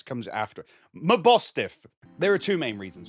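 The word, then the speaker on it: Mabosstiff: it's evolved form my boss my boss stiff Mass bostiff how do you say its name bostiff yeah the S comes after my bostiff there are two main reasons for this one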